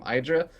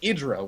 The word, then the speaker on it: Idra: I think Artosis was famously known for just constantly calling him Hydra, until everyone called him Hydra instead of Idra, which is how it was actually supposed to be pronounced.